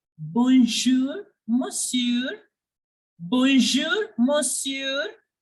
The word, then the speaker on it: monsieur: in French like bonjour, monsieur, bonjour, monsieur. Here, the R is pronounced, but the N is silent.